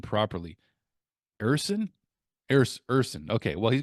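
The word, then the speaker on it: Ersson: you how do you say his name properly ersen ERS ersen okay well he's got a 10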